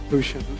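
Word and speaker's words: Gusion: Is it Guushian or Gush? How do you pronounce it? Guusian.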